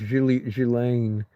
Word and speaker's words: Ghislaine: Ghislaine, yeah, pronounced Ghislaine.